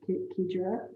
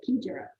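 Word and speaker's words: Xigera: And a few years ago, they bought Kedra. It's pronounced Ki, that's Ki in a keyhole, Jera. So Kedra.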